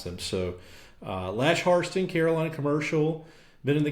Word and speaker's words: Hairston: I'm here with Lash Harston today. Lash, I pronounced that right, right? You You did. We misspelled it, but you pronounced it right. So, it's spelled like Hairston and pronounced Harston.